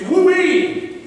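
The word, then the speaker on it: οὐαί: It's woo-ee, is the way you pronounce it in the Greek language.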